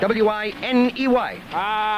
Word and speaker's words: Winey: Winey, is that right? How you spell or is it Winnie? How you spell it? W-I-N-E-Y. Winey.